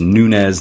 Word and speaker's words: Nuñez: we look this up it is nuñez not noon yes which is how we want to pronounce it because in America we're